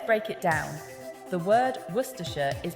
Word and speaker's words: Worcestershire: werer first let's break it down the word werer is pronounced as W yes it looks nothing like